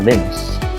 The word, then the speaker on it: Linus: So the Linux operating system traces its roots back to 1991 when Linus Torvalds, or Linus as it should be pronounced as, is a Finnish computer science student.